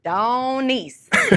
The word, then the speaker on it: Donyse: up doneese and so i tell people the best way to remember it is to say it with a texas accent which is don nice and then you don't forget it that's like five syllables